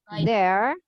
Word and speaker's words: there: kalau sepeda mereka jadi dear bye drama dengan baik-baik there bacanya bukan deir tapi dear dear dear dear Dear Oke